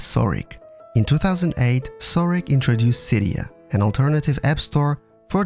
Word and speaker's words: Cydia: It's Cydia.